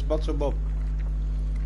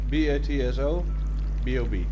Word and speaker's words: BatsoBob: Oh, your pronunciation. Oh, it's BatsoBob. B-A-T-S-O-B-O-B.